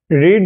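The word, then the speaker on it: read: इसका मतलब होता है रीड और रीड का आपको पता है कि स्पेलिंग सेम ही होता है ठीक है तो राम जज राम रेड रीड रेड रेड आर ई ए डी होता है रेड ठीक है तो यह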